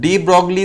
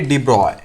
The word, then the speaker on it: de Broglie: ठीक है, अब डी ब्रॉगली तो ये बोला जाता है, बट इसका एक्चुअल प्रोनाउंसिएशन जो है वो भी मैं आपको बता देता हूं। इसको हम प्रोनाउंस करेंगे डी ब्रॉय।